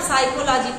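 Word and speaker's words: psychology: साइकोलॉजी में देखिए P missing होता है, साइकोलॉजी नहीं पढ़ते हैं आप, साइकोलॉजी पढ़ते हैं।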